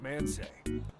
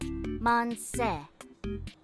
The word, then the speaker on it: Manseju: What's man say? I think it's pronounced more like Monse. That's what I say. Monse. Man say.